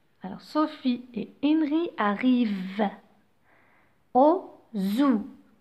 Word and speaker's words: Henry: Donc, je vous ai déjà dit dans une vidéo précédente que le H est toujours une lettre muette. On ne la prononce pas. Alors, Henry. Henry. Mais là, c'est un H aspiré.